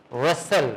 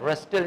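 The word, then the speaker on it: rustle: गया हा इसी तरह रसल रस्टल नहीं रसल क्या होता है इट्स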